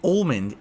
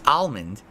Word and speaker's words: almond: almond from now on almond do not say Mond it's almond is it no one